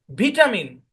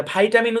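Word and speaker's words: vitamin: ভিটামিন, হ্যাঁ, ব্রিটিশরা উচ্চারণ করে, ভাইটামিন উচ্চারণ করে আমেরিকানরা, ঠিক কিনা?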